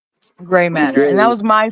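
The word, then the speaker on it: Grei: Um, because my middle name is Gray, spelled the same way, G R E I.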